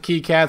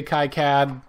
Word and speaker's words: KiCad: I pronounce it KICAD, some people say KICAD.